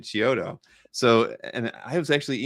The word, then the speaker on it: Chiodo: I had Wills Portasio on last Tuesday, and he pronounced Joe's last name as Chido. Is that right? Well, And that's, I don't know. well, no. Well, it's funny, you know. Well, because I've always pronounced it like you did, Chiodo.